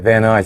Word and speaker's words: Van Nuys: That's how you say it, Van Nuys. I said Van Nuys.